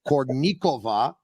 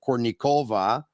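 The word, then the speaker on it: Kournikova: would say who was an expert with Russian pronunciations he would say it would be malahuff like it would be cornikova instead of Courtney Cova and Sharapova instead of Sharapova so uh let's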